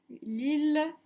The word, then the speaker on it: Lille: famille guy la ville lille mille dans ces trois mots le graphe m i ll se prononce il est donc pas comme